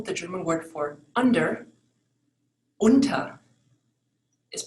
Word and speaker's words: unter: So for example, the German word for under, unter, is pronounced differently from the U with the dots over it for the word over, über, unter, über.